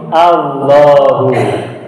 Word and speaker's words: Allah: menjadi hal Lahu nah lalu dibacanya tafkhim menjadi Allah jadi Allah adalah atau